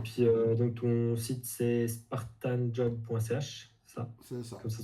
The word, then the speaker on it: Spartanjob: puis, donc ton site c'est spartanjob.ch, ça, C'est ça. comme ça se prononce.